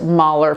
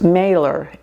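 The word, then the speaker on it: Mahler: name is Mailor and it's pronounced Mer from Germany. But when you came to the United States after World War II, you didn't want to have a German name. So it was pron pronounced Morer instead of Mer like the composer.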